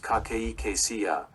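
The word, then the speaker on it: cachexia: The severe form cardiac cexia pronounced kakeia is a hallmark of advanced heart failure representing significant whole body muscle and weight loss.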